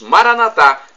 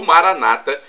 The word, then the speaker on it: Maranatha: de alerta de Jesus Maranatha como dizemos nós católicos ou Maranata como dizem nossos irmãos separados os evangélicos ou protestantes não importa a pronúncia porque somos todos irmãos